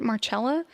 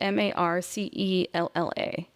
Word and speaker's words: Marcella: Some people called it Marella, but her name is spelled M A R C E L L A. It's Marcella.